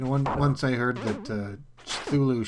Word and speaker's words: Cthulhu: You know, once I heard that Cthulhu should be pronounced as if you're sneezing.